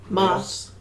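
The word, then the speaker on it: Maass: a Hulk go ahead how do you say Donald m a a SS's name Moss m all right so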